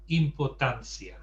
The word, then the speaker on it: importancia: tweak of the ending, you can't get away with pronouncing it like an English word. Importancia. You have to pronounce the Spanish. You have to pronounce it the Spanish way.